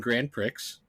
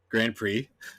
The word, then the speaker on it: Grand Prix: I also got F1 grand Pricks Grand Prix Grand Pricks Grand Prix I read it I read it phonetically not how it's actually pronounced um and then I